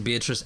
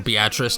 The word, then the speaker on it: Beatrice: And I'm kind of including Beatrice as a major city. Or Beatrice, depending on how you pronounce it, wherever you're from. Because I know there's a lot of different pronunciations.